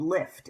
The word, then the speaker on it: Liift: And then the workout program we're going to focus on is called Lift, and that is spelled Liift. And the reason there are two I's in it is it's a